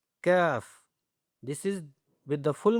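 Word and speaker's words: ك: And here we have, this is the kaf but not the bold, simple, kaf.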